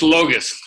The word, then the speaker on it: Logus: It's Logus. Yeah, Paula and Fred Logus.